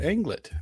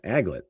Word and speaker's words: aglet: Yes, it is an anglet. That is correct. God, silver surfer. Aglet.